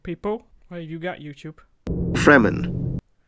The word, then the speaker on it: Fremen: completely different all right freeman all right do these sand people where you got youtube fremen without the rolled r that would actually be okay it's also one of